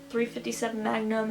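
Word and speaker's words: .357 Magnum: pronounce this but it's 0.357 Magne and point two to calibre I'm pretty sure you just said the number not the point so like 357 Magnum and a 22 caliber to 22 caliber and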